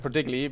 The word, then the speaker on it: ProDigyIgi: I know Storm is always pronounced as ProDigyIgi, but it's the German in me who always wants to spell everything how it's written down.